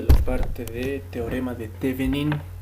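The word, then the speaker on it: Thévenin: Bueno, alguna bibliografía o alguna pronunciación menciona Thevenin, pero bueno, como estamos en Bolivia, yo simplemente lo pronuncio tal como se lee, Thevenin.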